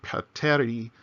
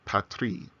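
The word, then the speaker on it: πατρί: So it's not pateri, it's patri.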